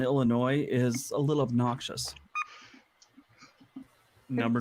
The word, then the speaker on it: Illinois: I also feel that silent S on Illinois is a little obnoxious.